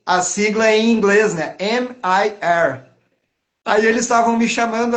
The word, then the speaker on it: MIR: M-I-R. Aí eles estavam me chamando assim, lá o Emayer vai tocar, o Emayer. Aí eu, não, gente, é Mir, Mir mesmo, é uma sílaba.